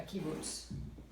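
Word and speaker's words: קיבוץ: Okay, a kibbutz. There I go again. See, the accent is kibbutz. And I'm saying kibbutz.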